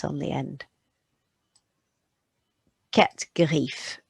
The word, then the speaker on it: griffes: Quatre griffes. But you won't hear those S's on the end of the word.